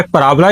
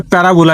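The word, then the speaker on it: parabola: ठीक है, पराबोला ही पढ़ते हैं, पैराबोला ही पढ़ते हैं। पराबोला और पैराबोला दो इसकी प्रोनाउंसिएशन है।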